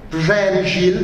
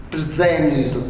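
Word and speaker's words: Przemyśl: Przemysl, mi ha insegnato un mio amico polacco a pronunciarlo così, Przemysl, cioè la perdita della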